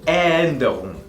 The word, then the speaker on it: Änderung: O por ejemplo también die Änderung, la modificación, die Änderung. La palabra Änderung al principio lleva esta A con dos puntos, haciendo que suene como una E también, ¿ok?